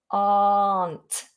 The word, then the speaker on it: aren't: Ignore the letter R, big open mouth. Aren't.